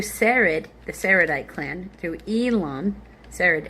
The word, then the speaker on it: Elon: the Seredite clan, through Elon. Sered s e r e d. Elon e l o n. Uh through Elon, yeah, just like that guy, the Elonite clan, through